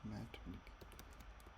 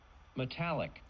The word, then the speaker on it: metallic: I should pronounce as metic. Metallic.